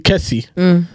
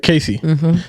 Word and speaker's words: Casey: They call you Kesi instead of Casey.